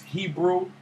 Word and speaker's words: Hebru: And again, his name is Hebrew Brantley. And Hebrew is spelled Hebru.